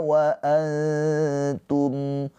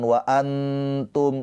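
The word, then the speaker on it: وأنتم: Ketika nun sukun bertemu dengan huruf ta, hukumnya adalah ikhfa hakiki. Cara bacanya nun sukunnya ditahan dua harakat. Ee ditahan dua harakat dengan samar. Jangan jelas. Jangan wa antum itu izhar wa antum.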